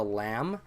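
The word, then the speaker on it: لام: this is called a lamb so you've got the Aleph and then this is the lamb a lamb is a typical L sound just love there's nothing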